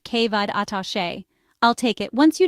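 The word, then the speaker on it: Cé mhéad atá sé: The Irish equivalent is si mhid atase, pronounced kevad atashe.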